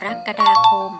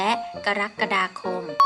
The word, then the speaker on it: กรกฎาคม: พุทธศักราช 2554 กำหนด ให้ ออก เสียง เดิน กรกฎาคม ได้ 2 แบบ คือ กรกฎาคม และ กรกฎาคม ด้วย เหตุ ผล เดียว กัน